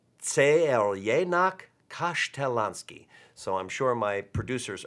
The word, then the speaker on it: Crljenak Kaštelanski: the actual spelling, and the pronunciation is Crljenak Kaštelanski. Don't try to say that 5 times fast, you may need a tissue. But it's Crljenak Kaštelanski.